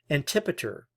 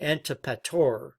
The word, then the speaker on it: Antipater: But there was another important player in all this, Antipater, or Antipator, as I've seen some pronounce his name, governor of Idumea.